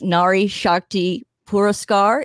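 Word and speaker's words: Nari Shakti Puraskar: difference i i'd like to say i can pronounce this nari shakti pura scar is that how you say it you did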